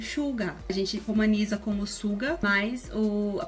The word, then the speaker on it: Suga: A gente romaniza como Suga, mas a pronúncia do nome dele é Suga.